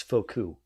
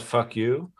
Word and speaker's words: Foucault: No, I believe you'll find that according to French expert Sargon of Akkad, it's Foucault. Sure, it's not fuck you. I'm pretty sure someone has mispronounced it that way.